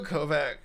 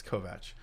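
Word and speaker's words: Kovach: the longest think someone Michael kovak kovat that's I learned how to say his last name recently it's kovat uh is like one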